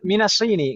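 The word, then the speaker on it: مِنَ الصِّينِ: Ibu sekalian, kenapa di sana dibacanya minasini, enggak minasono? Karena ada huruf Ada jar haraf di bawah. Karena dari sini bukan dari sono. Gitu. Baik, minasini, karena di sana ada huruf jar min, gitu kan Ibu ya?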